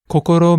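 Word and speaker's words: こころ: This word has three syllables all of which have one consonant and one vowel. Right? The first syllable co has the consonant k and the vowel o. The second syllable co. Same k and o. Third one consonant r and o.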